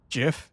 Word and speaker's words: GIF: stressed I'm the boss gif as in Jiffy except everyone knows that's pronounced GIF how dare you you